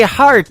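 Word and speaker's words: Harte: That is the latest single from my good friend Robbie Hart. It is H-A-R-T-E on her last name, and that is called Heart in Two Places. Yeah, just like your heart.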